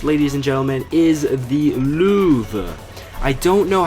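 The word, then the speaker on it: Löwe: She said it's pronounced Louvre. Louvre. That's how you say lion in German.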